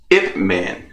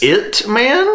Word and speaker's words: Ip Man: It Man? Ip. IP Man. I could be pronouncing that incorrectly because it is a foreign film. Let us know in the comments if he's pronouncing that incorrectly. Ip. It's IP.